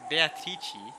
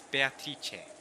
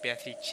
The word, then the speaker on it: Beatrice: it, because Kinzo's going Beatrice. But I think in Italian the correct pronunciation is actually Beatrice. So it's Beatrice. It's not Beatrice, it's more like Beatrice. You have like an A at the end.